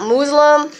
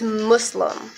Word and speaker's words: Muslim: of that and fYI it's not Muslim its Muslim Muslim that's the proper way to say it it's Muslim so I